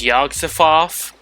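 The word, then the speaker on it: Yog-Sothoth: too not so smarty smart yeah actually it's yogg-safoth do I do I look like I can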